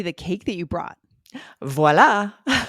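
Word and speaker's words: voilà: standard accepted pronunciation and how it is said in French is with the V sound voila so let's do a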